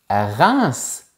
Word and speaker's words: Reims: H, c'est vrai, mais on dit reince et lance. Ce sont deux villes aussi, mais on prononce le S final.